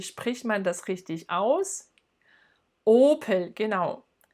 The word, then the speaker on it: Opel: Na, wie spricht man das richtig aus? Opel, genau. Opel.